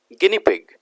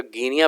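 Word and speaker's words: guinea pig: चलिए आगे देखते हैं नंबर 14, गिनी पिग। नंबर 14 क्या है, गिनी पिग, ठीक है। इसका गिनिया प्रोनाउंसिएशन नहीं होता है, ये याद रखेंगे, ठीक है।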